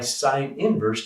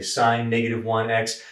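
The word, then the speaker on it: sin⁻¹: it sine inverse so we're going to apply sine inverse to the left-hand side of both sides of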